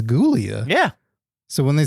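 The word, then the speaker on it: Giulia: It's spelled with a G, which I I They say it's Julia, but I'm like it's Gulia.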